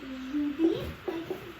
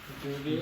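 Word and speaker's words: jeudi: it's pronounced Judy. Judy.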